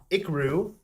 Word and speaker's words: Ikiru: So our 101st movie for the next episode will be 1952's Ikaru, directed by Akira Kurosawa. And for anyone curious, that is spelled Ikiru.